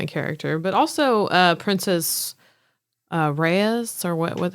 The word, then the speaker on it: Rhaenys: But also Princess Reyes, or what? How do you say her name? Are you talking about the queen that never was? The queen that never was. Yes, Rhaenys Targaryen.